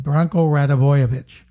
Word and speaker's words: Branko Radivojevic: He said, Branko Radivojevic.